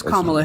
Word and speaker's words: Kamala: there there there is a historical significance to pronouncing her name correctly it is kamla Harris it is it's okay it's not it's